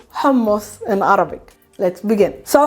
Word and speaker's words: hummus: going to use you how to say correctly hamos in arabic let's begin so hamos is probably